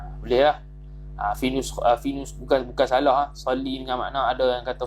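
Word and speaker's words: صلِّ: Allahumma salli. Salli bukan salla. Kitab ni salah. Tak cetakan Haramain ni. Salli dengan baca dengan ejaan sallam, bukan salla.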